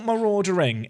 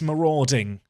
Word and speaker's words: marauding: And it's not maraudering. It's marauding. I add an extra syllable.